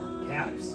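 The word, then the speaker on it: Kaps: Caps? Caps, like bottle caps.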